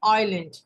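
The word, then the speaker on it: island: इसके अलावा groups of आइलैंड इसको जलैंड नहीं पढ़ते हैं एस साइलेंट होता है आइलैंड किसे कहते हैं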